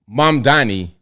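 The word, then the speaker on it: Mamdani: Mamani.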